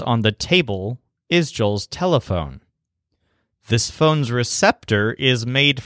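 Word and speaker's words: teléfono: and it tickles him his word for telephone sounds a lot like our word for telephone but it stresses leaf like leaf so the word is telephone all on this same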